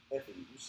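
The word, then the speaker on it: Efes: This is a picture I took in modern Ephes. They maybe just got tired of saying fuss on the end, but that's the way it's pronounced today.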